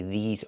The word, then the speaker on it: these: I have to say these are. These are cars. Not this is cars, but these are cars. Pronunciation. Make the long e sound like green beans. E. These plus the zz sound like zebra.